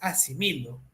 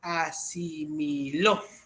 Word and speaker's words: asimiló: compañero de la universidad no es asimilo Es asimiló asimiló realmente hay solamente una